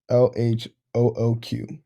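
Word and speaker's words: L.H.O.O.Q.: the presentation moving on to marcelo duchamp's piece l-h-o-o-q the name of this piece is a vulgar french pun the the letters pronounced in french sound like translate to english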